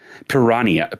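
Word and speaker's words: Piranha: It's written P I R A N H A Ns, but you don't pronounce the H, which leads me to believe they're trying to go for a Portuguese thing, which if you know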